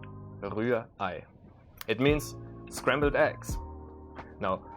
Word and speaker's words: Rührei: Now, the second R in this word, the R, is almost not pronounced. It's kind of like in the English language, like the British English, you would say Rührei.